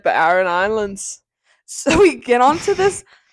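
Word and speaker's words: Aran Islands: I thought everyone was saying like the iron. The Iron Islands. But it's A-R-A-N. A-R-A-N. A-R. Islands. Yeah. So everyone's like the Iron Islands.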